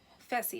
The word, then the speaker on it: Fessy: There's some tension between Haley and Caitlyn that has to do with Faisal, or is it Fessy? Fessy is how you pronounce his name.